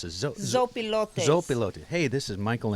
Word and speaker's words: Zopilotes: Hey, this is Michael of Slow Baja, and I am sitting here in, how do you pronounce it? Zopilotes.